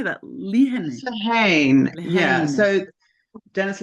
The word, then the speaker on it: Lehane: Lehane.